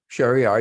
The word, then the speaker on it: Sheriar: And naturally, Shariar is his Persian pronunciation.